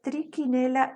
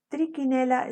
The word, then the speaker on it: Trichinella: El agente etiológico es Trichinella spiralis, aunque ahí haya una CH, se pronuncia como Q. Trichinella spiralis, este es un parásito helminto, nematode o nematelminto.